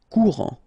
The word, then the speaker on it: Courant: Final T not pronounced. A-N. En. Courant.